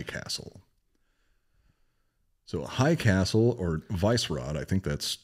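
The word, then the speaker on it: Vyšehrad: Well, it's Vysehrad. That does not spell Vysehrad. S's are like CHs in Czech, and Ys are E's. I can't remember. It's like Vysehrad, something like this.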